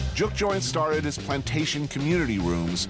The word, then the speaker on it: juke joint: Juke joints started as plantation community rooms during slavery times.